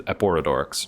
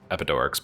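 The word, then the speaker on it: Eporedorix: His name is Eporodors, not Epidors, but I like Epidors better, so that's what it's going to be.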